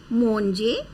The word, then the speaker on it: manger: In fact, like verb we pronounce manger, ER group is always pronounced as A sound.